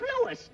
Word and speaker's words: Louis: story at the plant Lois Lois my name is Lewis not Lois Chief whiz everybody in tripolates me name wrong it's Louis l o u i s Lois uh Louise Lucy